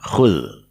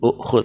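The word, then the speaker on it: كل: ini dihilangkan, sehingga jadinya fi'il amrnya adalah khul, bukan ukhul tapi khul ya, khul.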